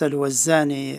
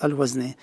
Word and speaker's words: Al-Wazni: The name was written in Arabic as Wazni, and it is pronounced Al-Wazani in Cairo as Dr. Ashraf. In the last 12 years, they used to call me Al-Wazni. So that pronunciation stuck with me, and that's how I'm called, Al-Wazni.